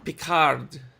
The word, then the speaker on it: Picard: you know I'm gonna I hate how she doesn't pronounce the d in Picard's name that is not that is not a thing with French language that doesn't make any sense you'll be pick hard